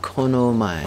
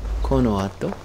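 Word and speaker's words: この後: I learned to say after this, which is konomai. I mean, konoato. Konoato.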